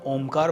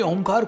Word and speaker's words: ॐ: आ उ मैं ऑलराइट इन तीनों साउंड से मिलके बना है ओमकार वैसे तो